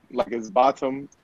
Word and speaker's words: Botham: No, it's bottom, like the T in it.